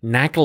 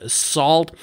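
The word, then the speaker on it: NaCl: network and cryptography library or short knuckle or actually pronounced salt to implement the talks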